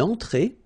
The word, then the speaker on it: entrée: Then une entrée. Une entrée. Okay, remember, well, technically this final here is not pronounced, so phonetically it doesn't exist, so it's et, okay? Entrée. Remember, nasal here, en, entrée.